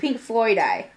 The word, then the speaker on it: pinkfloydi: I think it's Pinkfloydi. Because it's Pink Floyd with an I.